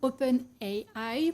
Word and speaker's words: OpenAI: qui est développé par openai ou open hey high pour ceux qui ont envie de le prononcer à l'anglaise chat GPT c'est quoi